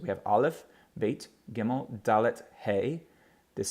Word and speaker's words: Dalet: Hebrew word which means door door it's always pronounced as the letter D equivalent to our English letter D as in dog okay da let da let so we have olive bait gimel